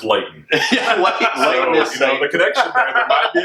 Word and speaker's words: Leighton: But it rhymes with Leighton.